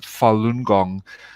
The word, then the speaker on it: Falun Gong: ancient spiritual movement called falun gong and it's pronounced falun gong consisting of moral teachings and meditation and four